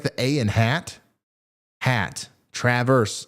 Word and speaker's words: Traverse City: pronounce Traverse City okay is like the a in hat wait what it's like the a in hat hat Traverse Traverse am I saying that